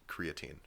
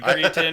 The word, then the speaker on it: creatine: guys but I think I accidentally said creatin once after really digging my heels on it but it's it's creatine for sure that's our official position